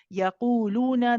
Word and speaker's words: يقولون: Yaquluna, the timing of the qu and the lu is the same.